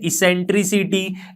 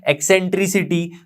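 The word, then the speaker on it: eccentricity: अब ये जो कांस्टेंट है उसके हम ई से डिनोट करते हैं, जिसे हम क्या पढ़ते हैं, इसेंट्रिसिटी, एक्सेंट्रिसिटी, दोनों ही तरह से आप प्रोनाउंस कर सकते हो, इसेंट्रिसिटी।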